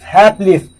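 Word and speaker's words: hapless: अब अगला वर्ड देखेंगे हैपलेस, हैपलेस, जो LESS किसी वर्ड के अंत में आता है तो लेस नहीं होकर इसका प्रोनाउंसिएशन जो लिस होता है, correct pronunciation, British received pronunciation है।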